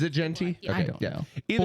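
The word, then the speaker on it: Jeanty: See, I kept saying Gentry, and I felt like I was wrong saying it. Austin Genty. It's Genty? J-E-A-N. Is it Genty?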